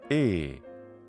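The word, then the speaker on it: εἶ: These two vowel letters, which we call epsilon and iota in English, do not form a diphthong. Rather, they're just a digraph. They don't rhyme with the English word hey or they in English. No. Together, they make the sound e.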